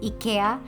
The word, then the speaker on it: IKEA: Like I know the way we pronounce IKEA which is Ika is actually closer to Swedish than the English pronunciation of it.